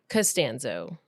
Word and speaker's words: Costanzo: throughout the whole podcast you know how I learned how to do it how to say it right how because George castanza who is that from Seinfeld oh so castanza castano and I can remember K castanza so I remember castano okay it's all about